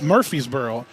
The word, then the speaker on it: Murphysboro: make sure I know where he's from it's Murphy's Boro I need to say it right it's Murphysboro